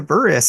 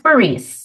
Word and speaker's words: Burrise: Katherine southernland and Nikia buris how are you both doing today I am great it's pronounced barice barice thank you so much